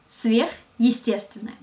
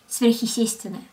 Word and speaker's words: сверхъестественное: Твердый знак connects the affix сверх with the rest of the word, so we can pronounce two words together, сверхъестественное. And without твердый знак, it would sound like сверхъестественное. And it's not even a word.